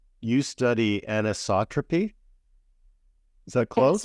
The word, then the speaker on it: anisotropy: a word so let's see if I can pronounce it correctly you study anisotropy is that close anisotropy oh yeah yeah that is uh how M